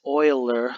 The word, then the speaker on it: Euler: But it's Euler, like oil, and then That's how you say it.